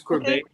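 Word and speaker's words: Courbet: it okay it's misspelt it's c-o-u-r-b-e-t so it's corbin for bae all righty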